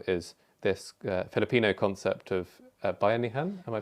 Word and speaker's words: bayanihan: by Jan Gale, is this Filipino concept of bayanihan. Am I pronouncing it correctly?